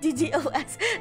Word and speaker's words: DDoS: DDoS, not DDoS.